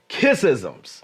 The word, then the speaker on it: Kissism: So I'm just excited, brother, and the juicy part that I've been waiting to talk to my audience about is kissisms. Oh. Now, wait, did I pronounce it right?